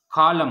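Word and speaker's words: column: कॉलम, कॉलम में N silent है।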